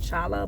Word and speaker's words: challah: So I did not get too much because I wanted to get the challah bread, and I thought it was pronounced challah, but it's challah.